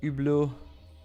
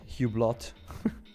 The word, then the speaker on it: Hublot: Larry says ublau or how the Americans say hublot Tim Finins gold pushing.